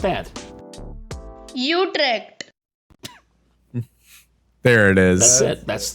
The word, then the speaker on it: Utrecht: How to pronounce Utrecht? Okay. Utrecht. Utrecht. Wait. They can't be right. Oh, we're on the American pronunciation. Let's switch to the Dutch the British pronunciation.